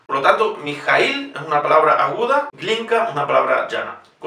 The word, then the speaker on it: Mijaíl: Es importante decir Mijaíl y no Mijaíl o Mijaíl.